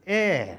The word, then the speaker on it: heir: HEIR is pronounced as air. So we are going to use an, and an. Why have I used an in this case? Because in these words, the H is silent.